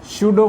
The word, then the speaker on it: pseudo: स्यूडो force, ये पी जो है वो साइलेंट है, और बाकी जो हम इसके बारे में डिस्कशन में लेंगे आज।